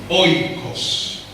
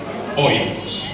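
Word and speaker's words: οἶκος: Casa en griego se dice oikos. Oikos. Entonces usted va a decir, cuando llega al grupo de oración, le dice a su párroco: Padre, hasta mañana, me voy para mi oikos.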